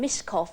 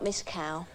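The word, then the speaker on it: Myskow: miss nana miscal people pronounce my name miscough and not miss cow well you obviously haven't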